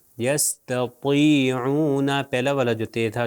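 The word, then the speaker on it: يستطيعون: توئیں ہے، تو اس کو ہوگا، اس کا تلفظ ہوگا یستطیعون، تطی، دیکھیے اس کے نیچے زیر آگے پھر بھی موٹا پڑا جائے گا۔ دیکھیے میں ابھی تلفظ کرتا ہوں، آپ میری طرف دیکھیے، یستطیعون، یستطیعون، پہلا والا جو تے تھا جو دو نقطے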